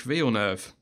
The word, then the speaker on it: Villeneuve: Jacques Villeneuve. It rhymes with trick. Yeah, trick all the way.